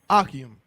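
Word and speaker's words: אחים: Is it Akim? Mm-hmm. Give him a hand. Right. Akim.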